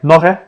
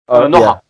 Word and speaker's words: noha: How do you say leg? Nohe? Noha. Noha.